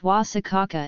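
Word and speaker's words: guasacaca: a hot sauce itself pronounced wasa caca in Latin America salad avocado is a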